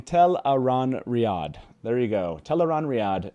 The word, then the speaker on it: Tel'aran'rhiod: pronunciation there you go robert jordan at a 2003 uh i think it's crossroads twilight uh uh signing report explain it to the crowd by saying tell a ron riyad there you go teleron